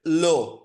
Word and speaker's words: le: একটা হচ্ছে LE, এটার উচ্চারণটা হচ্ছে লো, LE মানে হচ্ছে লো, এটার মানে হচ্ছে দা।